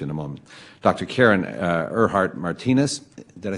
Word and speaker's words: Ehrhardt-Martinez: Karen Ehrhardt-Martinez, did I say it right? Ehrhardt-Martinez.